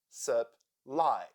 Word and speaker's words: supply: Supply, supply. Here we have 2 syllables and the second one is stressed. So, U sounds like supply.